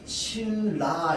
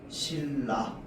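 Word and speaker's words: 신라: 자, 다음 뒤에 있는 리을이 앞에 있는 니은에 영향 줘서 최종 발음 어떻게 해? 실라 이렇게 되는 거야. 실라.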